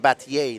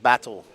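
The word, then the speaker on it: Batlle: to do well because Robert's name is Robert batier not battle it's spelled b a t l l e bti that's how you say it in Spanish it's not battle that's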